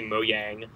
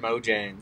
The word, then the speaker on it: Mojang: he started his company moyang and is that how you say it it is how you say it I've never once said it correctly in my whole life I've always said Mojang I've met him and